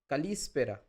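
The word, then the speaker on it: καλησπέρα: Good evening is kalispera. Kalispera. So, you can see that spera. So, this is the emphasized portion.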